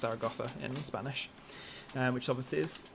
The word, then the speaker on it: Zaragoza: it in Spanish Zar gotha because the English pronunciation is Zaragoza but it's actually pronounced zarag gotha in Spanish which obviously is in the north